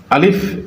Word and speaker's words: ا: আলিফ এটা বলতে গেলে মুখ থেকে বাতাস দাঁতের ফাঁক দিয়ে বের করে দিতে হবে। আলিফ।